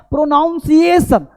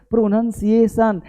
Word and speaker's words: pronunciation: प्रोनाउंसिएशन को शब्द होता ही नहीं है, ये प्रोनाउंसिएशन नहीं होता है। होता क्या, क्योंकि ION लगा हुआ शब्द नाउन होता है। ये शब्द पता क्या होता है, प्रोनाउंसिएशन, PRONUN, यहाँ NOUN है ना, ये होता है NUN, प्रोनन, CIATION, प्रोनंसिएशन, इसको बोलते हैं उच्चारण।